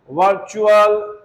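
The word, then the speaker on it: virtual: देखते हैं अब जब किसी वर्ड में टी के बाद यू ए एल आए तो टी का उच्चारण च होगा।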